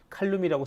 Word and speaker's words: 칼륨: 칼륨이라고 쓰고 포테슘이라고 읽는다. 왜 영어식으로 읽는 게 아직까지는 더 국제적으로 인정받기 때문이죠.